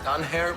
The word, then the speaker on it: Danger: Well, it's pronounced Dunhair, but it's spelled like danger.